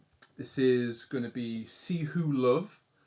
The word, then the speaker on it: Ceh: For your information, mate, it's See Who, but you can call me if you prefer.